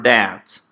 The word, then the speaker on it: debt: Cuidado com a pronúncia, tá? As palavras são muito parecidas. Debit, que é débito, e debt, que é dívida. Percebe que aqui é muito mais rápido? Debt. Esse B é quase mudo, é só um debt.